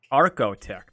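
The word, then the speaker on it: Archotech: How do you pronounce it? Arcotech. Arcotech.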